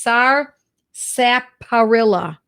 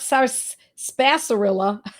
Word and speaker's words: Sarsaparilla: So the medicine I want to talk about tonight is Sarsaparilla, not Sarsaparilla. I've heard it pronounced all different ways. It's S-A-R, sap, S-A-P. It's just the way it sounds. A-R, illa, I-L-L-A.